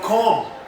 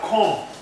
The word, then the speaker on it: comb: Then we have comb. Then we have comb. Comb, not comb. It is comb. The B is silent.